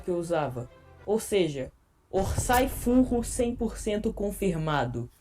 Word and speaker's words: Orsay: eu usava ou seja orçay fungos 100% confirmado eu pronuncia o nome dele correto orçay Esse é a forma correta de falar então ou não na